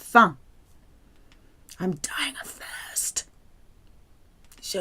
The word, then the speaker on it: faim: Faim, it's pronounced faim.